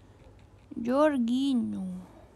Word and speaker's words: Jorginho: jorginho jorginho jorginho benar kan Ya jorginho cara bacanya jorginho jorginho Translate from no no no Italiano mah